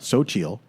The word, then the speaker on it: Xochitl: And so it says it sounds like Okay. Xochitl, S-O-W, and then a dot, C-H-E-E-L, Xochitl.